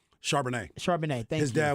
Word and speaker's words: Charbonnet: I always mispronounce his name. Is it Charbonnet? Charbonnet.